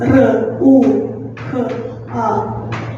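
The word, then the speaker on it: ręka: It's r, u, k, a.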